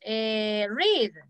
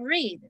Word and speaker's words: read: Read. What is the simple past of read? Read. Read, okay, very good. Es el mismo, pero la pronunciación diferente. Read, read.